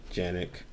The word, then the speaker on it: Canik: this is the um mechanic or as it's pronounced in turkey the yannick tp9 sf this is the um one series